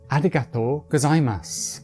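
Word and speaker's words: ありがとうございます: KONBANWA and the last one, thank you is: arigato gozaimasu You can get away with just saying arigato,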